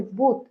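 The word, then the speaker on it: both: সো এইটার উচ্চারণ, একটা বলছিলেন আপনি বুথ, এটা বুথ না, এটা হচ্ছে বোথ।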